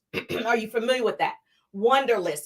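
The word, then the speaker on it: Wunderlist: Wonderlist, and it's spelled with a U, like W-U-N, Wonderlist.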